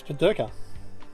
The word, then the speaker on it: Pedirka: Oh, it's Pedirka. Not Pedirka. Pedirka, yeah.